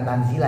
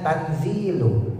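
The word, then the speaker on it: تنزيلُ: Nah, jadi baca bukan tanzila ya, dibacanya tanzilu. Tanzilul azizirahim.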